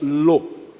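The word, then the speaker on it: לא: Em hebraico há uma palavra, um advérbio de negação, que nós pronunciamos como lo.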